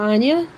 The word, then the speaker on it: Anya: with Anya I mean I want to say Anja because that's what I used to call her before I realized what her Howard announced her name which is really weird how you pronounce her name because if you think